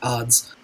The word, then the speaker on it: Adz: yeah the Sufjan Stevens Age of odds or Adz ads people read it differently I believe it's supposed to be pronounced the odds that album was the